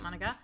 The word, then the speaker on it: Monika: I think that's how you say it, Monika.